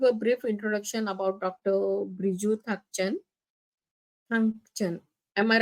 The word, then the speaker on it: Briju Thangchan: Briju Thangchan. Am I right? Am I pronouncing right, sir?